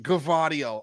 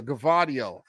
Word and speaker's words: Gvardiol: Okay, yes, pronounce G and V, both G and V, Gvardiol. Okay, nice. Nice. I feel good. I think I was getting it right today when I made the video, Gvardiol.